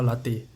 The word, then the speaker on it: latae: Tensor fascia latae. There's a latte to it. Spelled like LATT. LATAE.